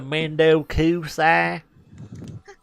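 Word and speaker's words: 面倒くさい: Mendo Kusai. Let me say that with more of an American accent next time. Mendo Kusai. It's the Mendo Kusai. Except for I like pronounced all the syllables correctly, and that's not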